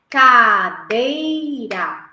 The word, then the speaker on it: cadeira: Qual que é a sílaba mais forte? A segunda. Como que eu faço para descobrir? Como se eu estivesse chamando a palavra. Cadeira. Onde eu demorei um pouco mais, no meio. Então, o dei seria a acentuação mais forte, no caso, né? Seria a sílaba tônica, digamos assim.